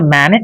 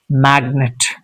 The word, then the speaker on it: magnet: So it's not mannet it's magnet ignore signature.